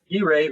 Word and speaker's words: Guijae: Guijae, who I can now pronounce his name properly, so I have it locked in my brain to make sure I address him properly.